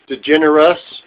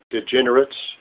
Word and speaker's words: DeGeneres: you pronounce her name that was a generous DeGeneres not degenerates no no that's you